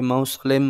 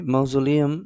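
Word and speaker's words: mausoleum: ma'am হ্যাঁ আমি জানি আমরা জানি ইটস ন্যাশনাল মৌজলেম অথবা এই মৌজলেম এটাই বলা হয় অনেকে মৌসুলেম বলে অনেকে মাউজুলিয়াম বলে ঠিক আছে অনেক উচ্চারণ এটার করে থাকে অনেকে মাউজুলিয়াম এটাই হচ্ছে একটা পারফেক্ট উচ্চারণ এখানকার আপনারা চাইলে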